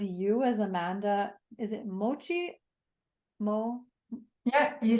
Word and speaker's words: Mocci: Is it Mocci? Yeah, you said it perfectly. Mocci. I feel like you pronounce it differently.